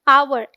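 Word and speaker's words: hour: आर क्या पढ़ने हैं अवर हा साइलेंट होता है तो जो ध्वनि आई है वो ए की आई है हिंदी के स्वर ए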